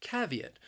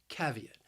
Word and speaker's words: caveat: before taking any action the word has three syllables and the stress also it's on that first syllable caveat caveat i think this word is a bit challenging because when you just look at the spelling you might not think that it has three syllables but it does that second syllable has a long e sound e caveat caveat so you might hear